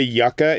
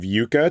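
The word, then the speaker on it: yucca: thinking florauna geographic features we we say yaka instead of Yuka to describe those wonderful plants that stab you in the leg or do you Lily I was going to say that is blowing my mind I personally would say Yuka y you would call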